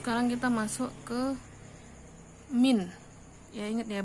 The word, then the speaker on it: mean: kita masuk ke Hai Min ya ingat ya bacanya mint bukan mean tapi min min itu rata-rata rumusnya